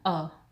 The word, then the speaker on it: a: हमें इसे ए नहीं प्रोनाउंस करना, क्या प्रोनाउंस करना है अ, बिकॉज ये क्या है